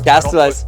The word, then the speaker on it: Castalez: We're joined here with Castalez. How do you say your last name? Castalez, you got it.